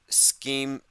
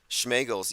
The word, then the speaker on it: Schemengees: Also, the bar and grill where he shot people was called Schemengees. I think I called it Schmegels yesterday. It's spelled like scheme. Scheme and G's.